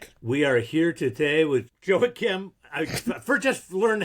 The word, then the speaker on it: Joachim: We are here today with Joey Kim. I first just learned how to pronounce the damn guy's name.